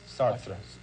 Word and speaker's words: Sartre: Did I pronounce that correct? Sartre.